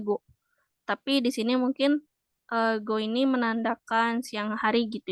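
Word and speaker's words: 午: Hero ya atau sebenarnya go ya sih ini dibacanya GO tapi di sini mungkin go ini menandakan siang hari gitu ya Sehingga ini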